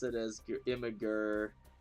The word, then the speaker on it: Imgur: pronounce it as your Imager I pronounce it as a two-syllable word I guess if you pronounce it as imager that's like three syllables I just go Imgur just put in an